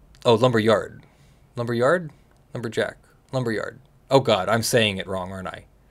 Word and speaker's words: Lumberyard: Lumberjack, right? Oh, Lumberyard.